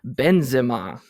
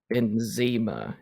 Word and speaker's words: Benzema: It's Karim Benzema. Okay, that's what I said, pretty much. No, you said Benzema, and that is Americanized.